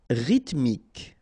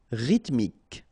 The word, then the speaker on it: Rythmique: Rythmique. Remember, Y pronounced like I and then H doesn't exist. Rythmique. Rythmique.